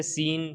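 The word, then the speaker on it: scene: जैसे accent, accent में क्या हुआ है, एस के बाद सी आया है तो साइलेंट हो गया है। इसी तरीके से सीन, सीन के अंदर क्या है, एस के बाद सी आया है तो साइलेंट हो गया है।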